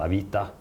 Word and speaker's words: Avito: It's actually not a good name because in Russian it's pronounced Avita, so it's not even Avito.